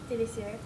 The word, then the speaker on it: délicieux: Délicieux.